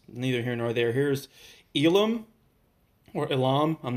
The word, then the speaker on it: Ilum: Here's Elam. Or Elam, I'm not really sure how to pronounce it directly. In Japanese, it's Iramu, but in English, it's Ilum.